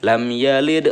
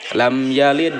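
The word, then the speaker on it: لَمْ يَلِدْ: eh dibaca mantul ya memantulkan huruf Qalqalah tetapi dengan ringan dan menyambungkan dengan bacaan setelahnya jangan lepas disitu Tapi kita ada pantulan dan dilanjutkan dengan menyambungkan dengan bacaan setelahnya ia lidwa gitu langsung ya lam yalid walam lam yalid walam gitu yah Nah itu seperti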